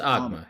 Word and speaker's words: Agma: Do you say the G in Agma, or is it Yeah, just it's Agma.